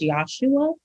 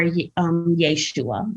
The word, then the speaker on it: Yeshua: So some people pronounce it as Yahshua or Yeshua. Yeshua is Aramaic, and that was the common language of the day.